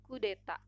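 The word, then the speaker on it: coup d'état: dari bahasa Perancis yaitu coup d'etat sebagai satu kalimat kedua kata tersebut pengucapannya adalah kudeta selanjutnya soal nomor 2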